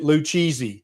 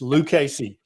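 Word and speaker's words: Lucchese: And don't pronounce it Luchi or they will throw you out of the store. It's Lucasy.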